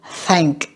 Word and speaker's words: thank: Âm câm thì các bạn chỉ thổi hơi bên hai bên thôi. Ví dụ mình đọc thank. Tôi thấy nó không có rung cho thanh quản.